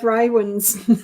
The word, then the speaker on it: Raywin: And sorry, I was supposed to have Raywin's name up there too, because I think that's how that's pronounced. Yeah, Raywin. That's the way I say it.